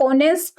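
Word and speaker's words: honest: किसी वर्ड में जैसे ऑनेस्ट अगर हम बोले ही इज एन ऑनेस्ट मैन तो यहां पर स्टार्ट तो ये एच से हो रहा है बट जब हम इसको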